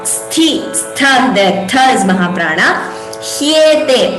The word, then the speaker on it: ह्येते: Hyete, please note the pronunciation. Ha and ya, hyete shashvat.